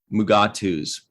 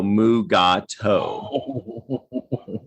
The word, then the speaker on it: Mugato: pronounce it i remember i myself called them like mugatu's you know and i would have to sound it out and say no mugato yeah it's not not